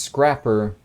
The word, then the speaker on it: scraper: would think it would it's pronounced scrapper but it's definitely spelled scraper let's roll the dice